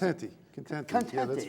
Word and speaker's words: Contente: Is that how you pronounce it? Contente.